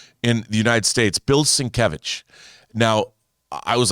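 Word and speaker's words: Sienkiewicz: now i was like is it bill sinkowitz he drew moon knight back in the day and and it it was it took me a long time before i figured out that his name is pronounced since and and he even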